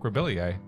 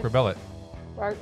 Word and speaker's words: Rebillet: Mark Rebillier. Rebillier? Mark Rebillet.